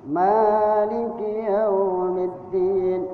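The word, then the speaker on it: مَالِكِ يَوْمِ الدِّينِ: Fatihah kalimat maliki yaumiddin, maliki yaumiddin itu dibaca 2 harakat dalam mazhab aliran qiraat Imam Asim. Tapi kalau dalam qiraat imam yang lain, Imam Ibnu Katsir atau Imam Abu Amr, Imam Nafi itu dibacanya pendek.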